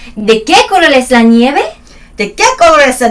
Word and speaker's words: nieve: ¿De qué color es la nieve? La nieve es blanca. La nieve es blanca. 얘네는 V 발음을 B 발음으로 하잖아. 그쵸. V가 없습니다.